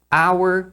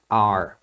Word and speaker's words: our: significa nosso ou Nossa a pronúncia normal é our mas no dia a dia é comum as pessoas pronunciarem de uma forma rápida e elas pronunciam como are Então você vai ouvir